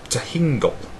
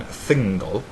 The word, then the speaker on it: Thingol: To those of you who have no frame of reference, this may be pronounced as Tehingol rather than Thingol, and using the Latin alphabet we'd have no idea how one would pronounce this word.